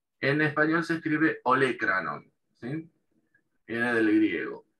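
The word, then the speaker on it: olécranon: en inglés sería olecranon y en español se escribe igual, pero con el acento en la E, ¿sí? El acento escrito en la E. En español se escribe olecranon, ¿sí?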